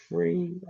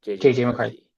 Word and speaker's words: McCarthy: Um Mafrey. Um why can't I say his name? McCarthy. M is it McCarthy? I don't know why I sound JJ McCarthy.